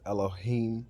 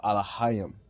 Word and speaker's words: Elohim: is not God or it's not even pronounced that way it's Elohim or allahayam you understand what I'm